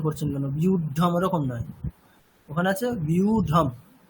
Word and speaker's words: व्यूढं: আচ্ছা সুনীতি রঞ্জন মাঝি বলুন, হ্যাঁ স্যার বলছি, দৃष्ट्वा तु पाण्डवानीकं युद्धं दुर्योधनस्तदा, ওটা কি সব প্রত্যেকে উচ্চারণ করছেন বিউঢম, ওরকম না, युद्धं বিউঢম, বিউঢম, বিউঢম, युद्धं, আচ্ছা